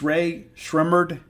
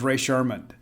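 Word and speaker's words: Rae Sremmurd: Now, I have been given the pronunciation guide on this, and it's Ray Shrimmerd, and it's eardrummers backwards. Like for years, I thought it was Ray Sherman, and I was like,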